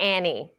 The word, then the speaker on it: Anne: Is it Ann or Annie? It is Ann, but it's spelled with an E.